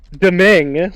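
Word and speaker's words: Dhoumeeng: since it's now destroyed daming like louis doming but uh it's spelt differently it's d-h-o-u-m-e-e-n-g yes and uh his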